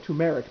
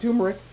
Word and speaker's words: turmeric: um you've heard of tumeric before i'm sure and yes that is the correct way to actually pronounce it not turmeric tumeric well it also has